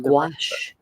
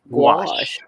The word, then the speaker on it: gouache: yeah oh and it's it's pronounced gouache just like gach gouache y'all gouache okay did you